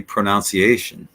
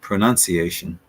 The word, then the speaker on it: pronunciation: say this word so the incorrect way would be pronunciation pronunciation and in that case it would be pron pronounced more like that pronunciation I think I've I've said that before I'm not sure but I think I have but that leads us to the correct way of saying it pronunciation I mean so far